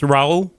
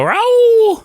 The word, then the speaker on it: Raul: Also, Eric, how do you say the last name? I call him. It's Raul. So I go Raul.